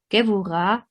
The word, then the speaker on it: Gevurah: as you recognized maybe, Gevurah and not Geburah, as it is often wrongly pronounced out of insufficient knowledge of the Hebrew pronunciation. Although the letter is called Bet, it is pronounced V as in vegetable, and the term Vegebula